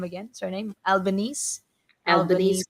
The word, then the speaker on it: Albanese: How do you pronounce his name again? Surname Albanese. Albanese, Albanese.